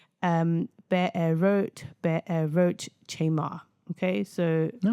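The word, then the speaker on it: Be'erot Chemar: Now the pronunciation um be a wrote be a roach chamar.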